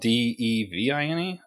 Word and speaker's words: Devine: Yeah, just it sticks in your mind that it's divine because you're like, but it's spelled D-E-V-I-N-E, I think.